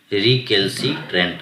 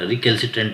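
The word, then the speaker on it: recalcitrant: आपको याद रहे च सेकंड हमारा व वर्ड है रिकल सट रिकल य पर देखिए री को हम यहां से पढ़ेंगे री केल सी ए एल केल सी सी आई सी ट्रेंट री केल सी ट्रेंट रिकल टेंट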